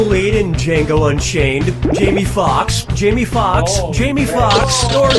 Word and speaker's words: Foxx: Jamie Foxx, Jamie Foxx, Jamie Foxx, or Jamie Foxx? Players 1, 2, and 3. Jamie Foxx's last name has 2 X's in it. The first X is silent.